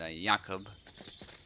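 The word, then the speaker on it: Jakub: we saw earlier and yakob I think that's how you pronounce it in Polish that's actually my name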